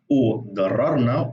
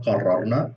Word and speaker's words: قررنا: قررنا or قررنا, of course it depends how you want to pronounce the Q, or the qaf, I mean.